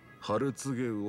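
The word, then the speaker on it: 春告魚: お客さん、それはね、ハルツゲウオって読むんですよ。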